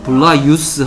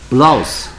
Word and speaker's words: blouse: 블라유스 하면 발음이 힘들습니다. 블라유스 해봐. 블라유스. 블라유스. 블라우스. 블라우스. 어느 게 편해? 블라우스. 어, 편한 쪽으로 갑니다. 영어 발음은.